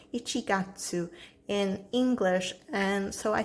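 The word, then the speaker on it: 一月: And then here it has the pronunciation Ichigatsu in English.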